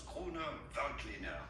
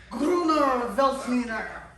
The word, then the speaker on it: Grüner Veltliner: We are looking at how to pronounce Grüner Veltliner. Grüner Veltliner. Grüner. You gotta say Gruner.